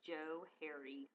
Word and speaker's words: Johari: they spelled it differently so it's really the Joe hary window and you'll he most people mispronounce this because it's just the trivia about